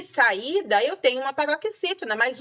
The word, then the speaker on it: saída: Por exemplo, saída, sa-i-da. Eu separei aí uma sílaba tônica é o I e eu tenho um hiato.